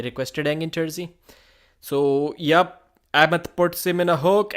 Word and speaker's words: Ahmed: They pronounces that H with a slight cough so that it sounds like Ahmed. Yeah, Ahmed. But most English speakers just say Ahmed.